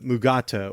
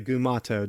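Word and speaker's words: Mugato: this episode gave us the mugat or the gumato depends on uh which school you're from are you from script school or are you from the DeForest Kelly mispronouncing at school I always I always go with DeForest Kelly one of one of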